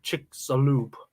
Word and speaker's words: Chicxulub: And yes, we had to search out how to pronounce that word before doing the stream. It's Chicxulub.